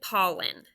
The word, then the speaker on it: pollen: You might think it's ALL, ball, all, but it's not. It's like olive. Do you remember what that all sound was? Right. P-O-L. Now, pollen has that schwa sound in the second syllable.